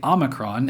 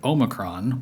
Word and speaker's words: Omicron: Americans say Omicron and Omicron, while the Brits say Omicron in addition to Omicron, so all those are fine.